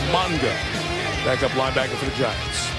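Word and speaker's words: Mauga: Used to be Mala. Changed the pronunciation. It's now Monga.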